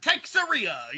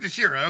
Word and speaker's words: Teixeira: Right, because because motherfucking I used to be Mark Texeria, or some bullshit like that. But Mark Teixeira.